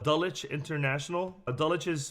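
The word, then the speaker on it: Dulwich: you mentioned through a British school system called dulich International adulics is spelled d-u-l-w-i-c-h and and dalicha I had a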